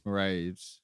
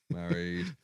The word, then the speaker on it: Mairead: I think it's Mairead. Mairead, what did I say? Married. I even looked up how to pronounce that earlier.